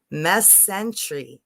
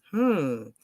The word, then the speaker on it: mesentery: Mesentery. Wait, I didn't say that right. According to 3 sources. Mesentery.